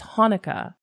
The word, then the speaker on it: Hanukkah: The C is silent. It's Hanukkah.